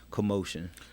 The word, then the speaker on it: QMOSHYN: streaming platform phonetically yeah cue apostrophe m o s h y N Commotion commotion gone deliver is a